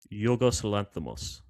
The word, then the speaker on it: Yorgos Lanthimos: Yorgosanthamos. Yorggas Lamos, who I love, even though I can't pronounce his name very well.